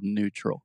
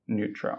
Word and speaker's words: neutral: things real quick first the word neutral I'm almost hearing like a and no no but it's just new just like something is new Earl neutral neutral okay perfect and secondly